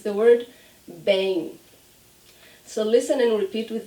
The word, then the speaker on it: bem: So the trick is when we have the M at the end of a word, we do not close our lips. So I don't say bem, never.